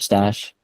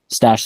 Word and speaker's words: Stache: note from the website secret stash stash spelled like a mustache we didn't mention that